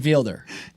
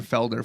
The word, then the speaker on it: Fielder: the other name Nathan Fielder. Yeah, but Nathan Fielder is just such a genius. Fielder. I've been saying Felder for the longest.